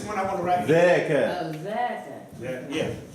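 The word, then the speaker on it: ذاك: It is dhaka, not dhalika. Dhaka. Is that? So is it Zaka or Yeah. No, it is dhaka. Dal, alif, ka. Dal, alif, dhaka. It's not dhalika.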